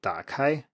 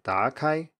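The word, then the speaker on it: 打开: with a word like dark high which means to open and you say something like dark eye you have a rising tone at the beginning instead of a low tone as the third tone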